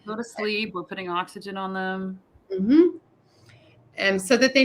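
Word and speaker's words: oxígeno: wasn't sure so oxy oxyhino Okay g sounds like we would pronounce an H in in English yep so g e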